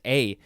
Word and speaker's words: aye: Next we have this would be A, pronounced A. It is spelled A-Y-E or just A-Y.